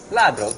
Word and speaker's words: ladro: Ladro. What? Ladro. Dario? Ladro. Dario? Dario, How do you say it? Ladro. Ladro, just like Dario.